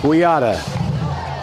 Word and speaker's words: Quijada: That's Anthony Quijada. The J is silent. Quijada.